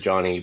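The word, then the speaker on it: Jhony: So my name my name is Johnny but it's spelled the Peruvian way. So it's J H O N Y because my parents knew eventually we'll come here.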